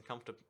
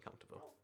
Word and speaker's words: comfortable: You can pronounce all the letters in comfortable.